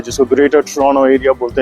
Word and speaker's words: Toronto: से ज्यादा population GTA की है जिसको ग्रेटर ट्रोनो एरिया बोलते हैं। आल्सो मेक श्योर कि अमेरिकनंस टोरनटो बोलते हैं लेकिन कनेडियंस टोरनो बोलते हैं टी is silent the second T is silent.